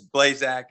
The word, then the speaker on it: Blaszczak: in this space including how to pronounce blaschik you may know it as blazak and today we're going